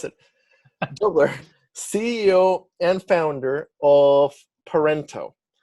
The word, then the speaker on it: Doebler: dobler dobler i just asked him how to pronounce it dubler ceo and founder of parento and i i